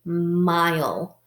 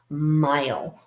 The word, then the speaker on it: mile: e at the end when you see that an e at the end of a syllable the e is silent and it is teaming